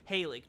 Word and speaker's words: Halig: Halig tree. So that's how it's pronounced? Gotcha. In-game, they say Halig tree.